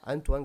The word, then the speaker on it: Antoine: Em nono, o francês Anthony Griezmann. Pô, pera aí, tem que saber pronunciar o nome dele certinho. Antoine Griezmann.